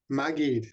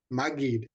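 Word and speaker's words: מַגִּיד: Maggid with a hard G. Maggid.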